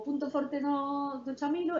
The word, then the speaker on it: Chamilo: Entón, a pronunciación correcta sería Chamilo, en español, Camilo en inglés, e ven da mezcla